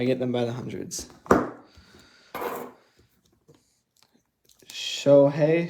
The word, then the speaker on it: Shohei: them by the hundreds shohei shohei that's how you say it show hey shohei atani or something